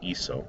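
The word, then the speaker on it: hizo: The rules in Spanish say that if a C is followed by an O, you have to pronounce the C like a K. So we don't want to say eco, we want to continue to say iso, so we spell that with a Z for just that one form.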